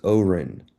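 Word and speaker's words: אֹרֶן: So you'll see here, the Masoretic pronunciation is Oren, Oren, all right?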